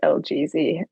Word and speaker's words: LGEEEEEZY: This is just a like self-proclaimed pronunciation, but it is LGZ. I love Or it. some people do call me just GZ, which I do respond to.